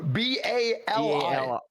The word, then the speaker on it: Bali: it Bali it's called it's that's how you pronounce it it's Bary b a r l e y no b a l i yeah Bali I am so sorry thank you